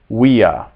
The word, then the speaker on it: via: And then the V in classical Latin is always pronounced like a W. Via, via, there.